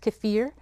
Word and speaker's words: kefir: My Russian friend tells me that's how it's pronounced, kefir.